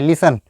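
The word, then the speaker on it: listen: लिखा गया है तो यहां पे टी क्या है टी साइलेंट है लिसन टी साइलेंट है लिसनिंग क्या तुम सुबह से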